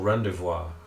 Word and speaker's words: rendezvous: That night, after Loria has picked the locks on your chains, you head off for the tunnel rendezvous.